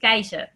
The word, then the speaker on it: Kaiser: No, it's the English pronunciation. It's pronounced in Dutch. It's pronounced Kaiser. Kaiser.